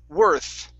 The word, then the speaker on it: worth: worth okay now here make sure that you're you're using your tongue between your teeth instead of pronouncing an F okay so worth worth good that's the th sound okay okay very nice